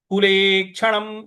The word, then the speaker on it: कुलेक्षणम्: म के नीचे जो हलंत है इसकी वजह से इसको हमको पूरा नहीं बोलना है। कुलेक्षणम इस प्रकार से बोलेंगे।